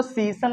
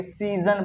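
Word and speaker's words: season: है है ना देखो इसको तो सी पढ़ेंगे पर इसको ज पढ़ देंगे क्या पढ़ देंगे ज इसको सीन नहीं पढ़ेंगे सीजन पढ़ेंगे जैसे अगर मैं आपसे कह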